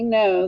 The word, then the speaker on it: know: being the same so the k is silent you just hear the n and what kind of